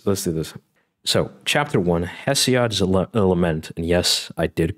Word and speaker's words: Hesiod: So chapter one, Hesiod's Lament.